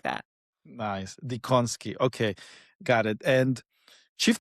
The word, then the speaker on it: Dziekonski: I think my husband's family made an executive decision and they've made a few of the letters silent. It is just Dziekonski.